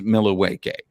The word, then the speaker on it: Milwaukee: not seen Wayne's World Alice Cooper pronounces Milwaukee as milawake so that is what